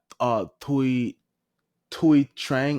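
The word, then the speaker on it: Thuy Trang: Tui Trang. I'm gonna assume that H is silent.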